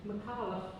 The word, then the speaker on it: Micallef: Just a quick question about how you pronounce your surname, Micallef, and why you choose Micallef as opposed to Micallef, which every Maltese person I've ever met with the name Micallef says it Micallef.